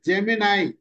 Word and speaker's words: Gemini: Morning சொல்லி, அந்த பிக்சர்ல ஜெமினில ட்ரா பண்ணது தான், ஜெமினி வரைக்கும் கொடுத்தோம். கரெக்டா ஸ்பெசிஃபிகேஷன் கிளியரா கொடுத்தோமா? ஜெமினி கிடையாது சார், ஜெமினாய். It should be pronounced as Gemini.